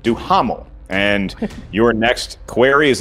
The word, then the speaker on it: Duhamel: I'm from the South, so I pronounce it Duhamel.